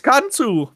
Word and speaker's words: Khonsu: And no, not Kansu. Yes, it was Kansu. Holy fuck. Yes, it's Kansu.